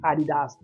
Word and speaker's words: Adidas: together and became Adidas that's why it's pronounce Adidas everywhere in Europe because they know the proper saying and the story behind the name whereas we say Adidas but again Adidas is